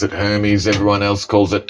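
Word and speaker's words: Hermès: Oh, pronounce it Hermes. Everyone else calls it Hermes or some bloody thing like that.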